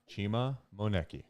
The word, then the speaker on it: Chima Moneke: Chima Moneke.